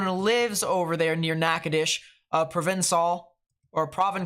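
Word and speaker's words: Natchitoches: nakadish here in Louisiana notice how I said nakadish because I actually remembered it from the last stream um it's not nacotoches it's uh nakadish so we have a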